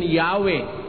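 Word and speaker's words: Yahweh: While inclining to view the pronunciation Yahwe as the more correct way, we have retained the form Jehovah because of people's familiarity with it since the 14th century.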